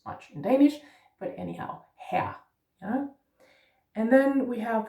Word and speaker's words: her: The E becomes more E, her, almost like Mr., which we don't use much in Danish, but anyhow, her, yeah.